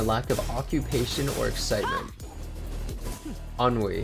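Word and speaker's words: ennui: I've never heard Enoi. Enoi, huh? I'm going to search that up. Enoi. Listeness and dissatisfaction arise in a lack of occupation or excitement. Unwe.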